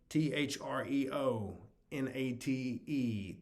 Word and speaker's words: threonate: Magnesium threonate, T-H-R-E-O. N-A-T-E, T-H-R-E-O-N-A-T-E, threonate, it's pronounced.